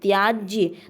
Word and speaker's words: त्याज्य: है तो ध्यान रखिएगा त्याज नहीं होता त्याज शब्द अशुद्ध है जबकि त्याज्य लास्ट में य का उच्चारण होना चाहिए त्याज्य त्याज्य शब्द शुद्ध है जगत जननी जगत जननी